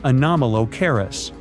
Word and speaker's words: Anomalocaris: The name is a bit tricky to pronounce, so I'm not going to. Okay, it's Anomalocaris, but it just literally means unusual shrimp.